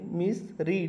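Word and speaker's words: misread: spelling तुम्हाला same दिसेल पण दुसरं आणि तिसरं रूप लिहिताना त्या ठिकाणी आपल्याला उच्चार रीड न करता रेड असा काढायचा असतो हे पण लक्षात ठेवा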